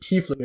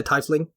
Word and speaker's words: tiefling: Also, I think they actually pronounce it tiefling in the movie, if memory serves, which I appreciate, because there are a lot of people that say tiefling, and that's wrong.